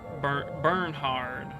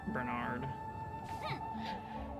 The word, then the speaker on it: Bernard: Elise, this is burnh hard. Although it's I know it's Bernard.